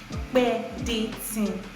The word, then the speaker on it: Pedetin: It is pronounced Pedetin, as in me do, and it means opekonwa.